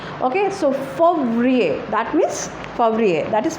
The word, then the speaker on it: Février: Février, and the pronunciation is Février.